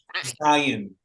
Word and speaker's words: Zion: Zion.